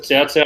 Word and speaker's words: Cao Cao: First time they pronounced it Cao Cao, I was cheering.